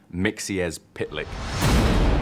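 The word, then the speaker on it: Mxyzptlk: it it's one of those tricky ones it's pronounced mixier's pitlick there is so many characters that we've just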